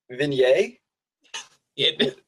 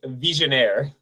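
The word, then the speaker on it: Vigenère: I could pronounce it is it the vin yay it no it is not it is actually pronounced visionnaire uh yeah so click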